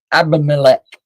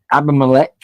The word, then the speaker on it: Abimelech: Samson, Gideon, or Abimelech? How do you say it? Sounds like Heimlich. Abimelech.